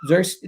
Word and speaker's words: Zirkzee: Zirkzee? That's how you pronounce it.